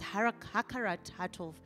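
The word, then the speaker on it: הכרת הטוב: In Hebrew, gratitude means it's it's pronounced hakaratov, which means recognizing the good.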